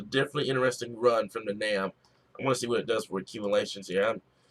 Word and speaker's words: NAM: It rhymes with Cam. Funny thing is, the NAM is one of my favorites, especially with winter weather.